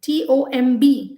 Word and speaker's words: tomb: then we did two t o m b the b is silent so we only say two this is the tomb and then we did